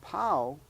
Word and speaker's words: pau: yes and Paul p-a-u spelled p-a-u which is actually pronounced pow p-a-u but pow p-o-w